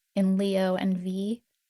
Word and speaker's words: Vi: should have mentioned um is V like the letter V. Uh and it's spelled VI and you know that's the Latin root for life in Latin based languages.